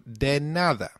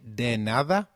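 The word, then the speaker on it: de nada: or the reply to thank you translates to deada Loosely meaning don't thank me for anything so can you try saying deada it's called denada very good let's now look at the final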